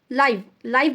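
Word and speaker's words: live: time of अरेंस लेकिन जब अपन एल आईवी को प्रोनाउंस करते कोई प्लेस के साथ तो आई लीव इन हैदराबाद इसको अपन लीव बोलते टू इन्हेबिटेड शी डिड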